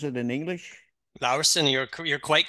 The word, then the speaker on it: Laursen: How do you pronounce it in English? Laursen, you're quite correct, Lars.